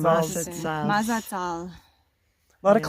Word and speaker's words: Mazatzal: Mazatzal's the mad as hells. Yeah, The Mazatzal. Mazatzal.